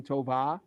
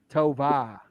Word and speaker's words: Tovar: scenes guru and Danny Tovar. We're from Massachusetts, so that R doesn't get pronounced. Tovar.